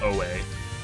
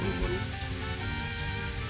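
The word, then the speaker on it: Ōe: Don't come correcting me that it's pronounced Mount Oe. Because I will always call it Mount Uwu.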